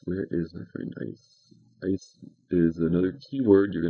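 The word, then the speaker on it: εἰς: Ice is another key word. You're going to encounter that, I think, in verse 5. And it's pronounced ice, even though it's spelled E-I-S.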